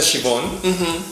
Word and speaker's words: Siobhan: No, el nombre se pronuncia Siobhan y lo escogí por el apellido, Ajá. porque es un nombre irlandés, pero de raíz celta.